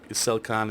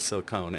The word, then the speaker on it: silicon: to correct me on how to uh pronounce silic silicon instead of silicone and and you were